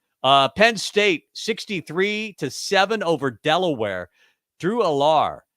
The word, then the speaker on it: Drew Allar: Drew Allar. Is that how it's pronounced, Bach? Yeah.